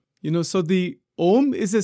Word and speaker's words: Om: is the ultimate Mantra all mantras come from Omar you know doesn't matter which Mantra it is it doesn't make any difference all mantras all sound all of reality comes from Omar so oh that is how it is pronounced